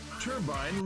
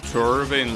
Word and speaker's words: turbine: It will not turbine loop. Wait, that word is pronounced turbine, not turban like I've been pronouncing it all this time.